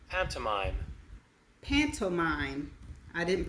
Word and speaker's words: pantomime: Okay, and this is how it's pronounced. Pantomime.